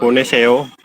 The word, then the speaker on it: 보내세요: Bukan soyo. 보내세요.